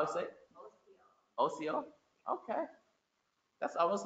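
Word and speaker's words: ᎣᏏᏲ: TV says how, but I know that's not right. How is it? OCO.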